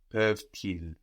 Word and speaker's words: peuvent-ils: So, if we were to make the inversion here, we would have an obligatory liaison because these words are so connected in meaning. No, ils peuvent, peuvent-ils, peuvent-ils.